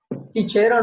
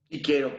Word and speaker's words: Cicero: Cicero, ¿cómo sonaría? Supongamos que va a sonar como che. Chichero, ¿no? Así No. es. Muy bien. Chichero o chiquero. Cualquier pronunciación es correcta.